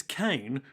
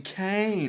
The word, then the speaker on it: Kane: now because he's billy kane oh apparently his family named kane is meant to be pronounced like khan or khan as in james khan an american actor what khan yeah billy